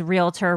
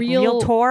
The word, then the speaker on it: realtor: um also Ed pronounces realtor weird did you notice that I did he like real tour or real real tour like he said yeah he says he says it weird real tour licenses yeah